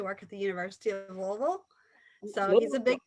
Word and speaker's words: Louisville: you pronounce louisville correctly you're supposed to pronounce it as if you have a mouth full of marbles and you did it